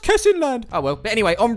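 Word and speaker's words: Kessingland: It's pronounced Kesinland.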